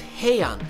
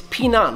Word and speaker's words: Pinan: By the way, in more modern Japanese styles, these kata are known as Heian, but the original pronunciation is Pinan, which has Chinese origins and actually means to stay safe.